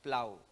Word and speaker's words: plow: Yun pong plow by the way akala ko ang bigkas niyan flow eh. Pero tinignan ko po sinigurado ko naman kanina tinignan ko po sa sa dictionary at saka sa internet kung paano bigkasin yan. Ah binibigkas daw po yung o as a.